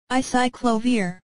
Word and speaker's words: acyclovir: Pronounced as acyclovir.